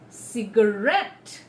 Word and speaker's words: cigarette: from the right hand side, on the third syllable. So it's every day. Repeat after me. Every day. Cigarette.